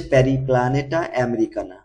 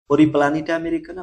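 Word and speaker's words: Periplaneta americana: এটা আরশোলা আরশোলা হচ্ছে প্যারিপ্লানেটা আমেরিকানা পরিপ্লানিটা আমেরিকানা বা প্যারিপ্লানেটা আমেরিকানা আরো অনেক ভাবে উচ্চারণ করা যায় এইটা হচ্ছে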